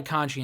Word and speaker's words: Conti: Her name is Ty Conchi in AEW. It's spelled Conti, but they pronounced it Conchi.